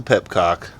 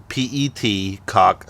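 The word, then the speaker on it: petcock: Dude, I always mispronounce it. It is spelled pet, P-E-T, cock, C-O-C-K, pet cock. I say pep cock because I'm a Texan and we're not obligated to say anything correctly.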